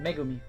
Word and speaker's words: Megumi: actually yeah okay I I said him his name wrong megumi uh got to try to keep that in